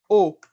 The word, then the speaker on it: eau: Les mots eau, comme on dit en portugais, água. Eau. Oh, Regarde, j'écris avec E, A, U. Et je ne prononce pas ces voyelles. Je prononce la voyelle O, le son O.